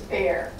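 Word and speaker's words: Bexar: open stack it was bear but it's not how you think it is it's b x a r why because in Spanish x is silent in San Antonio Texas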